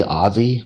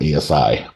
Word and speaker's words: Aussie: And so when I say Aussie, Americans say ASI, which I've been saying ASI all the way up until like yesterday and I've been corrected. So Americans, let's get our together. It's Aussie Berlin, not ASI Berlin.